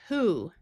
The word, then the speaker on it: who: Here you might notice the word who where the o has the ooh sound and the w is silent.